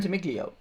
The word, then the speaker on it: Ventimiglia: pronounce his last Milo name. Ventimiglia.